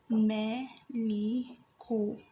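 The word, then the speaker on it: مَلِك: So the first letter is ma. Meme with a fatha over it is pronounced as ma. Ma. The second letter is lam with a kasra below it is pronounced as li. The third letter is kaf with a dhamma over it is pronounced as ku. So it becomes like that. Maliku. Maliku. Maliku.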